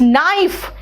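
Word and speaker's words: knife: silent है देखो तो इट्स नाइफ नाइफ कहा क नाइफ नहीं कहा है देखो नाइफ है बेटा नो नी नाइट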